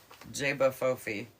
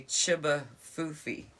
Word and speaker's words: J'ba FoFi: pronunciation of this and we all heard Jaba fofi but this says it's supposed to be Chiba fui CH so [ __